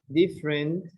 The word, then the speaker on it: different: Different. Interesting. Vegetable. Vegetable. Vegetable. Please pay attention. Page 23. 3. Speaking naturally. Silent syllables. A. Listen and repeat the words. Notice that the unstressed vowels are not pronounced.